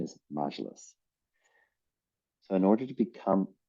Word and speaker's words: Majlis: Side note, folks, if you didn't hear, I have been mispronouncing Majlis, the parliament, as Majlis.